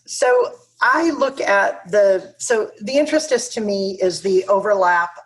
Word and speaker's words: interstice: bit, and I am hesitant to try and pronounce it. Intrastice. Thank you. There are states of intrasticity, and intrasticical, intrasticitive, and intrastitious. Interstitious, yes. So I look at the interstice to me is the overlap of 16th century